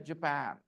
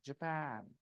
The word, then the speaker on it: Japan: is not it is Japan okay the stress is on the second syllable copy my rhythm Japan easy Japan and next